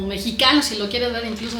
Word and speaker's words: Mexica: Entonces, meica es el nombre correcto de este grupo. Obviamente para un extranjero que no sabe la pronunciación del nagatle, pues es más fácil, ¿verdad? decir, por ejemplo, en inglés que Mexica, mexica, cóo, pero un